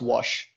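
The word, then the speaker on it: Łoś: cool theorem by wash this is pronounced wash i don't ask me why but for the first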